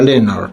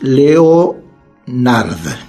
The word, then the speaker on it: Leonard: Y el autor es George Leonard, se escribe así, Leonard, creo por ahí se pronuncia Leonard, pero es Leonard, con D final, George Leonard.